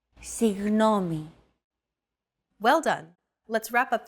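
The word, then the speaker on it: συγγνώμη: between the small separation another approach is to try to pronounce a g as if an H sound were to follow after it and hold that sound while you exhale the after sound created by that H is what you're looking for listen as Chrissy demonstrates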